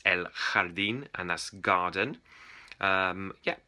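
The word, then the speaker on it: el jardín: a j a r d i n to pronounce it jardine like in french but Don't It's elard and That's Garden um yeah and there's ls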